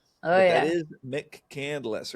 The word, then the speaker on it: McCandless: She, you know, it's like Northcel's when you when you mispronounce those names from out of town. Oh, yeah. That is Mick Candless, right?